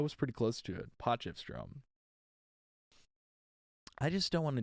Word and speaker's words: Potchefstroom: Potchefstroom. Stroom? Potchefstroom. Okay, dude, how do you say that? Oh, pronunciation key.